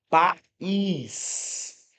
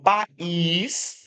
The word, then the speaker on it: país: Porque você percebe que na pronúncia, esse I tem um som independente, tem um som forte. Inclusive, é um som mais forte do que o A. País. É a sílaba tônica, não é?